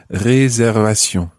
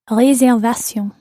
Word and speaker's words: réservation: Réservation. Réservation. But it's a good example of a word that you must pronounce in French, even though it looks like English.